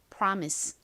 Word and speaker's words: promise: 아은 리 소리가납니다 그리고 한국식으로는 보통 이오를 오 소리로 읽는데요 실제 미국식 발음으로는 여기서가 아에 가깝게 쓰였어요 그래서 프가 됩니다 PR 다음은 미음 소리 나고요 아는 e 소리 끝에 se 스 소리 중에서 스 소리로 쓰였어요 읽어 보면 promise 되죠 promise 정확히는 라와